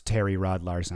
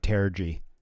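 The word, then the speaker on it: Terje Rød-Larsen: I'm glad to know how to finally pronounce Terry Rod Larson. I was saying like terrory yesterday as he's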